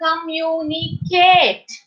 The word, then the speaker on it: communicate: as we are saying communicate communicate it means we are actually stopping at the t right communicate kit t